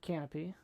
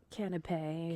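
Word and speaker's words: canapé: So the options here were a boards and stuff for the appetizers, a bosamic onion canopy canipe.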